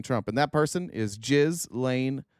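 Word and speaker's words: Ghislaine: and that person is jiz Lane Maxwell and that is the correct uh pronunciation of her name just in case you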